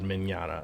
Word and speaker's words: Mignogna: voice actor called vic Mignogna yeah I didn't say Marana Mignogna I said manana it's it's Italian so I want to